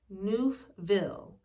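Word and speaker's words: Neufville: to make sure I say her name right noofville n-e-u-f-b-i-l-l because I I like getting people's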